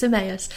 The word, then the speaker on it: Emmaus: quite strangely isn't it people never quite know how to say it we get eme and various different things you're right it's EMAs it's actually EMAs is a place um